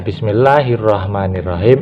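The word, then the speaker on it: بسم الله الرحمن الرحيم: kan Meme Fatah ma Jangan ditambahin Man karena kita kebiasaan kadang-kadang memang inilah sulitnya karena sudah biasa Bismillahirrohmanirrohim nah seperti itu ini sebetulnya salah ya kita harus membacanya Bismillahirrohmanirrohim hawanya itu panjang ini ada 2A kemudian saya garis ini berarti panjang nyir Rohim itu biasa kita sering terjadi menambahi huruf n di sini Bismillahirrohmanirrohim Nah itu sebetulnya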